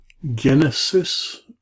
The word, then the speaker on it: Genesis: Genesis. Okay, notice this is a hard G.